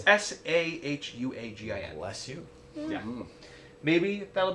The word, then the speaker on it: Sahuagin: Sahuagin. I probably butchered that. Excuse me. It's Sahuagin.